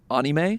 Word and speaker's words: anime: You also know that Ernest is serious about his fandom of anime when he pronounces it anime.